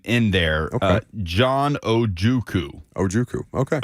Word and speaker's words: Ojukwu: He made the Beast, and it has the pronunciation in there. Okay. John Ojukwu. Ojukwu. Okay. OH-JOO-KOO.